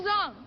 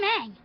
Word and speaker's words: Aang: And by the way, just a fun little tidbit, they do pronounce the names different from the show as well. My name is Ong. I'm Aang.